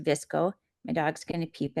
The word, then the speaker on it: VSCO: for a long time visco is VSCO but it's pronounced visco my dog's going to